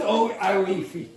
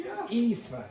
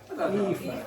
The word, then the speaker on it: Aoife: No, it's not Awifi. It's Aoife. Aoife. It's an Irish woman's name.